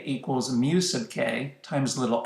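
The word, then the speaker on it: μk: the kinetic friction force this symbol is the greek letter mu so this symbol is pronounced mu sub k mu sub k stands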